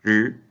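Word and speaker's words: 日: Por ejemplo, el carácter para sol, que en chino se pronuncia R.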